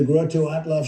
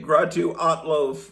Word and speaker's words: Grottu Orloff: Stay tuned to the Grottolo show here in KIF radio. Okay, he mispronounced my name. Gratu Alo, but that's all right.